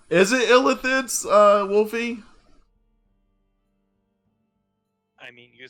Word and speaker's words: Illithid: They're actually called Illithids. Sometimes pronounced, but Illithid is the Elvish word for Mind Flayers.